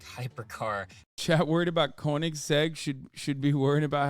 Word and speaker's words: Koenigsegg: newer and they're explosive why'd you say koenigs felt cake w am I saying it wrong is that why you guys well not Corning spelled Koenigsegg oh okay whatever tuck my dick I don't know cars like that it's Koenigsegg uh shut up nerds